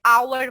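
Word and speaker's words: hour: छुआरे जैसे लिखा है बट इसमें प्रनंसीएशन में साइलेंट है और हम इसे आवर पड़ते हैं ना आवर इज आ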